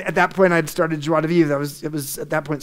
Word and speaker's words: Joie de Vivre: And so my purpose was defined by the name of my company, Joie de Vivre. You pronounced it very well, Greg.